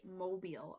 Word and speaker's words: Mobile: A is Savannah, B New Orleans, C Charleston, and D Mobile. I had to Google how to pronounce that and it is Mobile.